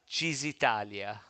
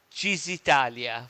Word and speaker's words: Cisitalia: So it's Cisitalia. Okay, it's Cheese Yeah. Italia. See, it's spelled Cisitalia. But Okay, it's a great Tazza Nuvolari, right.